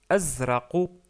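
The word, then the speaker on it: أزرق: couleur c'est le bleu on le prononce Azra Azra qui se termine avec lettre nous n'avons pas encore vu mais vous pouvez prononcer la lettre Q en pour s'approcher de cette lettre là mais c'est pas exactement le le Q donc c'est plutôt Azra il non pas que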